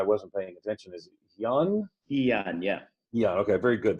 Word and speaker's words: Hyun: who I asked to pronounce his name, and now I wasn't paying attention, is Hyun? Hyun, yeah.